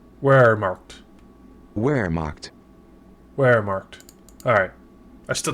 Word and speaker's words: Wehrmacht: Pronunciation. How to say Wehrmacht. Wehrmacht. Wehrmacht.